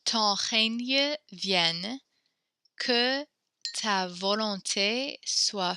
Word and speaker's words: règne: Emma, I'm going to have you repeat the règne. The G and E makes a ñ sound kind of like lasagna when the English word for this.